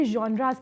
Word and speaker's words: genre: Basically इसकी pronunciation क्या है? यंड्रा। ठीक है? इसको हम कहते हैं यंड्रा।